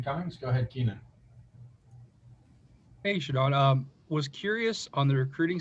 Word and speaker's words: ShaDon: Pronounce my name as ShaDon. All right, it's a capital D. It's not hyphenated. So you guys, it's ShaDon.